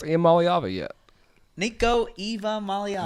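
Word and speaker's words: Iamaleava: says, can Spanky pronounce Iamaliava yet? Nico Eva Maliava. there's no Eva in it, son. Golly. Nico Eva Maliava. Ia Maliava. Eva Maliava.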